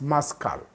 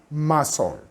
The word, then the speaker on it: muscle: This word is muscle. You'll find out some students reading it as muscle, which is very incorrect. Why? Because C is a silent letter. And therefore, you're not supposed to say muscle.